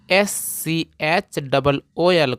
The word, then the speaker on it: school: मैंने आपको बताया था कि अगर SC के बाद अगर H आता है तो यह वाला H साइलेंट होता है, तो यस से हो जाएगा आधा स, और यहाँ पे सी से क होगा, और डबल ओ से बड़ा ऊ, और एल से ल।